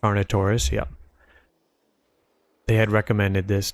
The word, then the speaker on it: Carnotaurus: Carnotaurus. Carnotaurus, yeah.